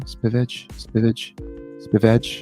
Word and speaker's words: Spivak: Yeah, and they're actually saying this Spivak. Is that how you say his name? Spivak. Spivak. Yeah, they call him Sergey Spivak. Sergey Spivak. It sounds like HVAC.